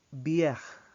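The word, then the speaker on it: bières: Also, bière and bière when it has an S in the end.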